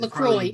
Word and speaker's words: LaCroix: It's LaCroix.